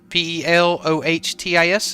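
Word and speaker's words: Pelotas: Pelotis. Pelotis. Okay. Hey, Zane, have you heard of that place in Brazil? Pelotis? Pelohtis is how you pronounce it.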